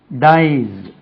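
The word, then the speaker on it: dyes: டைஸ் எஸ் சேர்த்தா டைஸ் ஜெட் உச்சரிப்பு.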